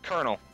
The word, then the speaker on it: colonel: Colonel. It's pronounced colonel. It's colonel. Don't ask why.